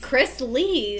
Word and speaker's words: Chrisley: I thought that was No, how they it's pronounced it. Chris Lee.